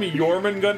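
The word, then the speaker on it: Jormungand: mean I I call I like to call him yman Gund I don't know if that's like the proper pronunciation I mean I kind of slur the word like try to say it from memory like just just remember the J makes a your sound yeah like yenim mhm exactly Jay's make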